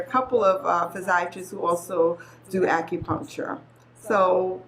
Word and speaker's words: physiatrist: medicine so I always get challenge with this pronunciation I was thinking psychology phys physiatry physi that's it physiatrist yes um what does a physiatrist actually do